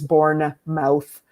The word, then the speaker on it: Bournemouth: in a place called Bournemouth and uh if you wanted to see it phonetically spelled it is born mouth in the south of